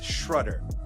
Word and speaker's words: Schrudder: It's another episode of the next fix and I have with me today Mary Beth Shrudder. It rhymes with butter.